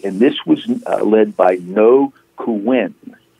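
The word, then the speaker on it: Ngô Quyền: this was led by no who win and I could spell that no is NGO and Kuenn is qu y en okay I got it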